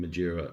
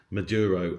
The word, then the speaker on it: Maduro: talks about the helicopter going in and getting Madura M. I'm always saying his name wrong, please forgive me. Maduro and his wife.